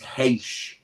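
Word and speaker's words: Reis: So I got told you pronounce his surname is Heish. That's how you pronounce his surname. So it's called Vitor Heish. Yeah, even though it's not spelled like that.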